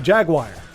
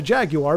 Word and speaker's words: Jaguar: But, I mean, like Jagu Jaguar, like the Atari Jaguar, like Jaguar is how I've always heard it pronounced. However, our friends in the UK call it a Jaguar, which I mean it